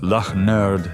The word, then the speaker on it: Lynyrd: The result was their debut album, pronounced Luh-nerd Skin-nerd, released that September on MCA Records.